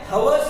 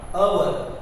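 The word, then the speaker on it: hour: कुछ वर्ड्स ऐसे हैं जिनका फर्स्ट लेटर साइलेंट है। यहां पर भी वही है। यहां हम क्या कर लेंगे, यहां अगर हम इसको रीड कर लेंगे तो इसका साउंड क्या होता है, हवर्स नहीं आएगा, अवर।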